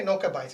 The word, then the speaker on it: Nowka Bais: way to pronounce it is it bites or advice oh i'll say something funny we say that because we say noka bites it's a word that's